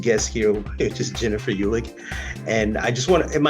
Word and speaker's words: Uhlig: introducing my next guest here which is Jennifer ulick and I just want am I pronouncing your name correctly is it UL or